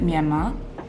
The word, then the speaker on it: Myanmar: Okay, so I pronounce it Myanmar.